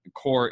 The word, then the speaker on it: Corps: hey it's hardcore marketing it's spelled like the Marine Corps not the earth core mm-hmm and a guy